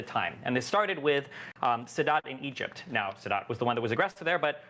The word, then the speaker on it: Sadat: Am I pronouncing Sadat? Anwar Sadat? Sadat.